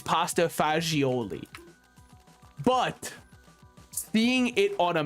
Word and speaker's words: pasta fagioli: I say it cuz I know the correct pronunciation it is pasta fagioli but seeing it on